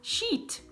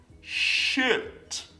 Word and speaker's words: shit: Eu sei que quando você vê a palavra escrita, na nossa cabeça tá um I, então você pensa que você tem que falar sheet, né? Não. Mas é como se fosse um E, tá bom? Então, a palavra melda vai ser shit, shit.